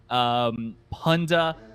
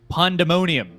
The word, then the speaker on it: Pandemonium: Fancy United, Dominatus, Naos, Punda, Oasis Gaming, and Dewa United. Wait, I did not pronounce that correctly. It is Pandemonium.